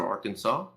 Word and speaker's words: Arkansas: Yes, and also I don't blame them because we have a Kansas, and then we have AR Kansas. Yeah. Why the fuck is it Arkansas?